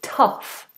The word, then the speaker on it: tough: Then it is tough. It has a similar sort of spelling. T-O-U-G-H. Tough. English, tough. Tough.